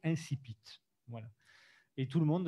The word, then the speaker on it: incipit: professeurs de français qui appellent ça l'incipit, parce qu'ils s'imaginent qu'on parle tous latin. Mais dans le littré, le dictionnaire de référence des vieux comme moi, la prononciation est clairement indiquée en phonétique, c'est incipit.